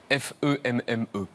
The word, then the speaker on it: femme: élèves la première fois alors f E 2 e se prononce femme alors le il y a souvent un élève qui dit mais il y a pas de a dansf non l'instituteur répond bah oui c'est comme ça le le E de femme se prononce a et l'élève se dit